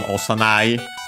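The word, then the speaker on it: 幼い: Osanai is an adjective, I think an accent, but we'll check. Okay, no, I have to look it up. For infant, juvenile, very young, little, as in yeah, very young. By extension, also childish, immature. No, actually accent, so yeah, osanai.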